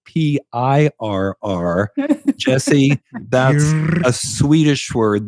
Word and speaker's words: Pirr: I know you all want to know that this is spelled not like a cat, but like Pirr.